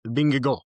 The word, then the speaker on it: Vingegaard: Jonas Vingegaard.